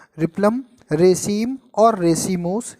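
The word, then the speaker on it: replum: से हो गया रिप्लम, एल साइलेंट होता है, आप रिपम भी कह सकते हो, रिप्लम, रेसीम और रेसीमोस, ये 3 करेक्टरिस्टिक हैं।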